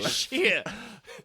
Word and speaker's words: Shia: Shia. I believe that's the proper way to pronounce it.